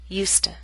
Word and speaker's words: used to: by a consonant sound we do not pronounce used to with a full vow sound to becomes to I used to practice regularly I didn't use to complain so much both the affirmative and the negative form have the same pronunciation USTA in contrast we keep